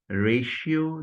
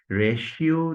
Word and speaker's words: ratio: Now, ratio, why this is ratio? Because after r, there comes a, ray. This is the first syllable. She occurs in ship. So after ray, it is she, and then o occurs in note, quote, etc. So it is ratio, ratio, and ratio decidendi of the judgment.